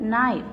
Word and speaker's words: knife: Here K is silent, so we will focus the very first sound of the word knife.